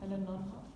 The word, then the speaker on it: Nonhoff: My name is Nonhoff. You want to I can spell it?